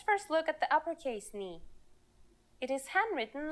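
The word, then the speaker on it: νι: letter today is a consonant knee yes pronounced just like the knee on your leg its sound in greek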